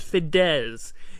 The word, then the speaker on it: Fidesz: It's pronounced Fidesz. Fidesz.